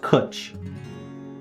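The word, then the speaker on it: cwtch: a quiche pronounced oh it's pronounced kuch to rhyme with butch is a welsh word for a cuddle or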